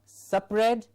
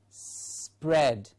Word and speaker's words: spread: it is spring yes not sup red but spread spread all you need to do is say pred and a s before it so pred spread spread that's how it has